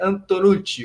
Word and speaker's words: Antonucci: gosto da da Itália Então tem que pronunciar aqui também antonucci o dois CS lupia é aquele sinal de chiado igual carioca mesmo mas um prazer falar